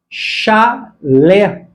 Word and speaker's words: chalé: Chale, chale, como paroxítona mesmo, existe. Chale aqui é uma espécie de peixe. Então, esta forma está correta. Não confunda chale, paroxítona, chale, com chalé, a palavra oxítona e acentuada.